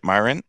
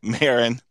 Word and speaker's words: Marin: uh what I say how do I say Myron Myron is that right it's married but that's okay as long as no I want to say it right Marin Marin said something that's so important and he